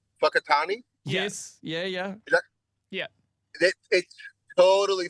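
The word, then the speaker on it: Whakatāne: But then if I learned that when I went there, and I went to, I think it's pronounced Fakatani.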